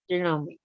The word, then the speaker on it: Janome: Janome oh that one is an embroidery properly pronounced Janome both of them are as a matter of